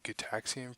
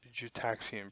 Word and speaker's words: Gitaxian: like to clarify that the card is pronounced get taxi and probe not cheat axiom pro the same way that Gideon is not pronounced Gideon ok now that